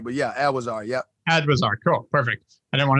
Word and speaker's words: Adwizar: Adwizar.